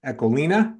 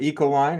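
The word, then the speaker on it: Ecoline: and she would featuring eolina as the Dutch pronounce it eoline as we say it here in the US and fine Tech just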